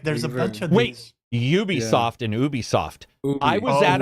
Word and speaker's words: Ubisoft: The people who run the company were like, it's Ubisoft.